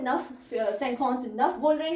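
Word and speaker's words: neuf: spelling बहुत गड़बड़ आते हैं तो प्रोनंसिएशन और स्पेलिंग फ्रेंच में बड़ व करने पड़ते हैं ठीक है ध्यान रखना तो नफ कहते हैं ना को ठीक है मैंने ऊपर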